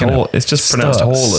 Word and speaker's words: Haaland: Haaland. Highlights... One of these days, it's just pronounced Haaland.